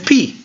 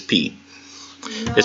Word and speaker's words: pi: be in English it's P it just looks different yeah not pi it's P well it would in